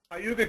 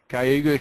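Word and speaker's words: Cayuga: um you County art pardon me kuga County kayuga County okay uh you're never sure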